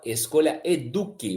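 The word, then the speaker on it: escolhaeduc: Ó, o arroba é @escolhaeduque. O C é mudo.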